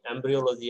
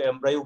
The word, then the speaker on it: embryo: এটার উচ্চারণটা আসলে এমব্রিও, আমরা যদিও এমব্রায়ো বলি কিন্তু বেসিক্যালি এর উচ্চারণটা কি এমব্রিও, এমব্রিও।